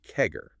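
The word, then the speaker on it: CAGR: Exactly that 117 billion total addressable market growing at a 22% compound annual growth rate, C AG, pronounced kegger.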